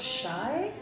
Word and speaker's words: chai: we have here is chai you told me that this actually is pronounced Shai yeah so like I